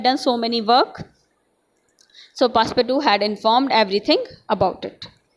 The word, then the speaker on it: Passepartout: Passepartout is there, but iski pronunciation, true pronunciation is there, Passepartout.